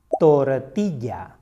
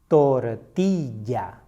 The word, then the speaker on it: tortilla: Tortilla. Tortilla. Again, never say tortilla. It is tortilla.